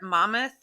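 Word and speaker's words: Monmouth: known self he ran competitively in college for Mammoth is that how you say it Mammoth it is it's on the Jersey Shore too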